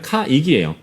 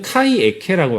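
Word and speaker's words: caique: 카익 한국에서는 카이라고 쓰지만 카익 원래 영어식 발음은 그냥 카 이이에요 또는 카이 에라고 하기도 해요네 카이 큐라는 말은 사실은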